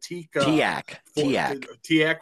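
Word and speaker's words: TEAC: He gets a at the time it was a new uh te is that TAC the no tak. That's how they pronounce it.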